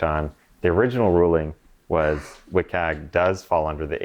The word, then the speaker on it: WCAG: So if that's not meeting WCAG that's how you say it doesn't meet accessibility.